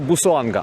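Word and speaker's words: Busuanga: Це острів називається Бусоанга.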